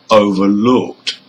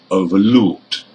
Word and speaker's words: overlooked: Number 1, understand and number 2, overlooked. Now, the stress on these compound verbs are on the second part of the word. The stress is on stand in number 1 and looked in number 2.